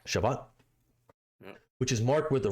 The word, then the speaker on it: Shabbat: Shabbat. Shabbat, which is marked with a reading of the Torah.